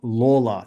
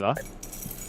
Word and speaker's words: Lawler: Now, I've been told that's how you pronounce it. Layla. Apparently, it's Lawler. Who's there are? Because Layla is when he pops out and singing. There's no R there, mate.